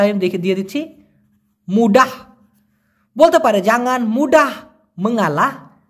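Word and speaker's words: mudah: ভাষায় যদিও সেনাং বলা হয় সে নাং অথবা মুডাহ বলা হয় এম ইউ ডি এ এইচ উচ্চারণটা আমি দেখে দিচ্ছি মুডাহ বলতে পারে জাঙ্গান মুডাহ মাঙ্গালাহ তার মানে সহজে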